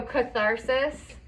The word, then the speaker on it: catharsis: cool um concept so catharsis it's spelled like this anyone heard about that so arthritis yeah it kind of sounds like arthritis so catharsis is like